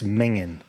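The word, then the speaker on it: minging: You say that's mingin. Mingen. Mingen? Mingin. Mingen. Spell it.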